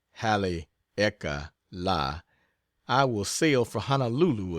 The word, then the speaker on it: Haleakala: As soon as I get back from Haleakala, pronounced Hale-eka-la, I will sail for Honolulu again, and thence